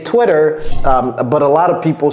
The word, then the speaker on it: Twitter: Cody, can you help us pronounce this? Twitter.